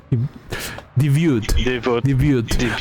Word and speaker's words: debut: How about I debuted. I don't know how to say this fucking word. Let me just show you the goddamn sprite. Debut. Okay. Yeah, it's French.